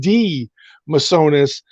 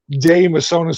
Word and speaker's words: De Mesones: words it's not hard now you said d misonas and my brother pronounces our name d misonas and i pronounce it damasana so who knows bro